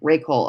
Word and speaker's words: Ray Cole: Ray Cole is how you say your name, right? Then I said it right with a hard C. Ray Cole.